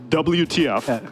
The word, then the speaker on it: WTF: to pronounce his name WTF yes literally just the spelling oh my God I